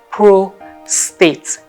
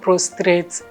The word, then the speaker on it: prostate: It's called prostate. Okay, can we take it again? Prostate. It's not prostrate or whatever thing you might have been calling it before now.